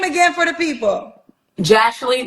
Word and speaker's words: Jashley: name on the app it's uh jashley so like Ashley with the J hold on one second